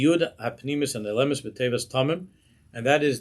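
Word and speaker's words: תמים: Zui Yud HaPnimiyus and Elemis B'Tevas Tamim, and that is the hidden Yud, or the Yud that you don't pronounce in the word Tamim, that's contained in the word Tamim, which means that which is perfect.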